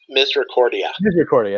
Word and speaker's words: Misericordia: Misericordia, that's how you pronounce it.